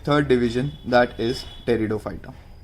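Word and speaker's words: Pteridophyta: Stem, leaves नहीं थे, बट टेरिडोफाइटा में जो पी है वो साइलेंट होता है, तो टेरिडोफाइटा कहते हैं इसको।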